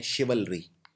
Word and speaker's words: chivalry: है, जिसको बोलते हैं शिवलरी। शिवलरी मतलब भी होता है बहादुरी। ये शब्द थोड़ा सा मुश्किल है प्रोनाउंस करना। इसको लिखते ऐसे हैं, CHIVALRY, शिवलरी यानी बहादुरी।